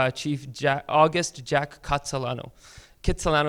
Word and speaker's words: Kitsilano: Argost Jack cut Solano Kitsilano is kind of like the anglicized pronunciation of his name do you know I